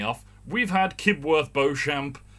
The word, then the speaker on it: Beauchamp: we've had kid worth beauchamp which is pronounced beechum we've had grubby pronounced